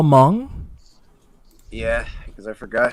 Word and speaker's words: Hmong: how do you spell hmong yeah because i forgot how to spell it sometimes i forget i don't think i don't think i ever told him h-m-o-n-g yeah yeah h is silent yeah utv he knows